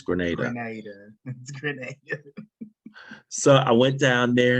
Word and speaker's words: Grenada: aviation was down to Granada a Grenada I think they pronounce it as Grenada so I went down